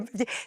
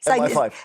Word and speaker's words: MI5: The M15, MI5.